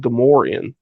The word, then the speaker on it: Gamorrean: It's pronounced Gamorrean. I remember one of the clones in Battlefront pronouncing them Gamorrean. Right. Maybe no, I they're guess. definitely Gamorrean.